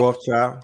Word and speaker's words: Rothschild: That's where that a name always comes up in that conversation, and it's Lord, and it rhymes with Rockefeller. Clothchild, huh? Who's that? Lord Oh, Rothschild, Rothschild.